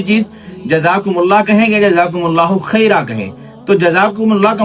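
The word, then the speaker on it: جزاکم اللہ خیرا: پھر اس میں یہ آتا ہے کہ جزاکم اللہ خیر کہیں یا خیرہ کہیں. تو اصل لفظ تو جزاکم اللہ خیرہ ہی ہے، جو درست ہے تلفظ کے ساتھ وہ جزاکم اللہ خیرہ ہی ہے. باقی اگر کوئی جزاکم اللہ خیر بھی کہتا ہے تو عوام میں ایسی غلطیاں عام پائی جاتی ہیں.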